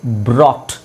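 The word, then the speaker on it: brought: BROT, ಮಧ್ಯದಲ್ಲಿರೋದು silent. So ಬ್ರಾಟ್.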